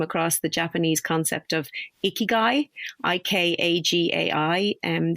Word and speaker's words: ikigai: of ikigai i-k-a-g-a-i and there's a couple of ways to pronounce it but i've i've i know i know a few women who've met who've met them in bars icky guys that's that's exactly how i remember how to say it guy because of